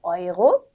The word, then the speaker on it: Euro: Neu, Euro, 유로 아니라 Euro, äußere aufräumen. 네, 그래서 네우 이런 게 아니라 나이라고 읽는 네.